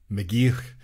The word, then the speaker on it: McGeoch: I never say his name because I don't know how to pronounce it. You say McGeoch? McGeoch.